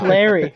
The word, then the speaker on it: Clarry: Nah, just Larry, but it's spelled Clarry. Oh, Clary. No, Yeah, just so Larry. I'm not as bad She's as silent. Clary. That silent C.